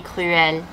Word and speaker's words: cruelle: Il est cruel, elle est cruelle. Again, no pronunciation change.